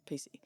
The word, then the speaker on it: Pici: It's PICI, but it's apparently pronounced PC.